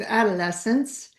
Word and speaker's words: adolescence: It kind of rhymes with adolescence.